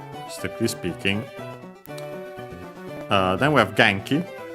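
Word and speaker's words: 元気: Then we have Genki. Another Chinese compound, but this one accent on the first syllable.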